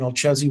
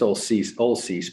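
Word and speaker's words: Olcese: that this change occurred in approximately 1981 when Olchesee Water District purchased the lower river right from Hacienda Water District. My question to you is, what is the basis for your understanding? Well, I know that it's Olcease, by the way, is how they pronounce it.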